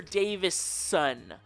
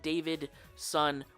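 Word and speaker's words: Davison: in the comments that's fine Fifth Doctor Peter Davis son the reason I say it like that is because at one point I made a video where I pronounced it David son with a d and I probably also spelled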